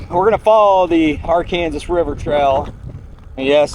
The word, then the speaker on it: Arkansas: So anyway, we're going to follow the R Kansas River Trail. And yes, that's how they pronounce it in this part of the country.